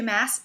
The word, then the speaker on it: Maas: Maas? Ooh, I learned. I did meet her. That is apparently how you pronounce her name.